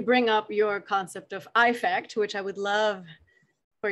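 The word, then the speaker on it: Æffect: component and you bring up your concept of eye fact which i would love for you to explain to tell us about eye fact please if you will i'm glad i just love when i hear people pronounce it like that because we got to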